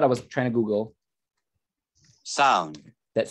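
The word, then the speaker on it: Samhain: Swan, I think that's how it's pronounced.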